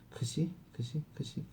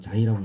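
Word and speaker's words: ξ: 크시 뭐 이거를 어떤 사람들은 자이라고 읽고요. 그 무슨 아파트 이름도 있잖아요. 자이 응? 자이라고 읽기도 하고 근데 나는 크시라고 읽어요. 유러피언들은 보통 크시라고 읽습니다.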